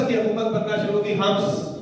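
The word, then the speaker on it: حمص: और उसके बाद हलब और हम्स, शायद यही प्रोनाउंसिएशन है इसका, कितना दुरुस्त फरमा अर्ज कर रहा हूं मैं, हिम्स, ए के नीचे जेर, हिम्स।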